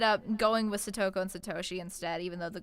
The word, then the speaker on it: Satoshi: So specifically the two names that I do not pronounce correctly in the videos are Satoko and Satoshi. They should be Those Satoko were hard. and Satoshi. Satoshi.